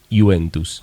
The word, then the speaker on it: Juventus: Por eso se escribe Juventus con J, pero normalmente no se pronuncia como una I lunga, Juventus.